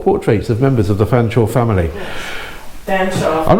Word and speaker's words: Fanshawe: actually not and I normally you don't see Feng shots or spell like that normally they spell it Featherstone Hue or something like that but there we go you can be spelled fanchor as it as it sounds but it's quite strange to see fan shall spill like that in